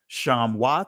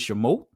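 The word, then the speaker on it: שְׁמוֹת: Well, the original name of this book, when we look at that word Shemot or Shamwath, that's the ancient pronunciation. The Israeli is Shemot.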